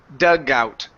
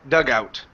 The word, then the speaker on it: dugout: so this word is dugout dugout mm-hmm one more time dugout ok ok connect that sound instead of saying dug out dugout like it's one blah dugout dugout ok